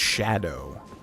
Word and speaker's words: Scadu: why is it pronounced why is it spelled scadu but it's pronounced Shadow that's so weird to